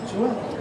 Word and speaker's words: Joelle: How do you pronounce your name? Joelle, right? That's how you pronounce it, right? Like Joel.